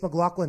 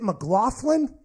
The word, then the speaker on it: McLaughlin: McLaughlin had him incredibly is it mcLaughlin that's how they kept pronouncing it mhm I think so McLaughlin McLaughlin but in my head I would pronounce that mcLaughlin I don't know I might be wrong I'm assuming the people